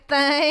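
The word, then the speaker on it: thang: to talk about the Alabama white thing white thing and yes it's pronounced that way and it's spelled that way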